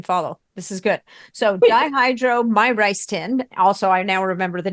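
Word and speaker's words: dihydromyricetin: do you spell that it's dihydro my rice tin so it's very my rice tin my like if you know if you like went to a Chinese restaurant this is my rice tin brilliant that is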